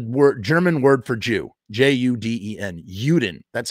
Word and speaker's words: Juden: juden is the word german word for jew j-u-d-e-n juden that's how you pronounce it and you used to see that